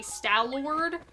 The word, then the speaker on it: Stallord: Ag is the home of Stallard. It sure is. And I'm aware that his name is supposed to be Stallord, but what if I pronounce it like Malard?